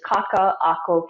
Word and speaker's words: Kaka'ako: um and so the the pronunciation of the business is kaka ako casuals there's a glottal stop in between two of them right so there's a little bit of a uh yeah that that um